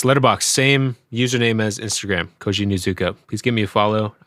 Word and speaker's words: Koji Nuzuka: It's Koji Nuzuka. I'll spell that out.